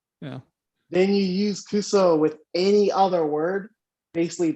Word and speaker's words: kuso: Kuso. It's like kuso is how you say it.